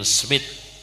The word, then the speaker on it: Smith: Habib Zain bin Ibrahim bin Smith atau Sumet, bacanya Sumet ya, cuma Indonesia Smith. Habib Zain bin Ibrahim bin Smith, Madinah Al-Mu'ammar.